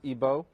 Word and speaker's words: Igbo: comes from Nigeria from the Igbo tribe otherwise pronounced IBO and Remy's a scholar was a lawyer in